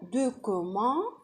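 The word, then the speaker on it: document: هنا بالفرنسي ننطقها بقى عدل، دو. بص بقى، دي او يبقى دو كو سي مع الاو تنطق كو يبقى دوكومون.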